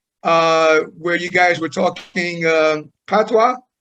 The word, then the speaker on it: patois: was involved in, where you guys were talking patois, right?